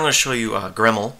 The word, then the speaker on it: grml: to show you uh gremle i believe that's how it's pronounced it's live cd debian